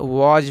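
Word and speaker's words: was: दोस्तों डब्लू ए एस तो आप कहेंगे कि इसको डब्लू से व कहते हैं सर और ए से आ की मात्रा हो जाएगी और एस से स होती है लेकिन नहीं दोस्तों यहां पे वाज पढ़ते हैं क्या पढ़ते हैं दोस्तों वाज यानी कि डब्लू ए एस को वाज पढ़ते हैं यह देखिए इसको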